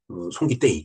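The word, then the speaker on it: ソン・キテイ: 정을 데이라고 이제 여기 표기를 테이라고 하는데 태도 아니고 대도 아니고 그 중간 소리라고 저는 봐요. 그래서 저는 송기떼이 이기떼이 전 쌍디귿을 그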